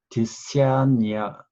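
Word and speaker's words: Dissanayake: Art anthropologist Ellen 디시아니아, 이 발음이 좀 어려운데 디시아냐야키 이렇게 읽을 겁니다.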